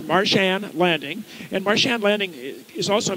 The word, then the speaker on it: Marsh Anne Landing: party what's your winery it's Martian landing and marsh and landing is is also mispronounces Martian landing and we actually have a flying saucer on